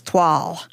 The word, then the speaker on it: toile: What the heck is TW? Is TW a design? No. Tw O I L E pronounced TW. It's a pattern.